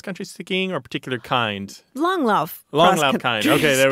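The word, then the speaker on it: Langlauf: kind of cross country skiing or particular kind long love long love kind okay there we go very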